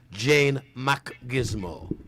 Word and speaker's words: Jane Macgizmo: You don't say Mac, pause. You do it smartly. Jane Macgizmo.